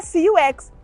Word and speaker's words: CUX: Abroad, it is called, pronounced in English, as C-U-X, but there is no way here, her name is CUX.